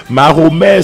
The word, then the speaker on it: Mahomet: Mahomet, c'est de son vrai nom Muhammad, la prononciation française, c'est Mahomet, c'est un arabe, un prédicateur arabe qui vivait le 6e siècle après Jésus-Christ, les années 520-530.